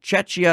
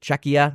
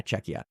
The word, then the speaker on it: Czechia: you guys are quite popular Germany is one Chia is another or sorry CIA I can't remember exactly how do you say it czechia yeah czechia so yeah you're popular there Germany and Finland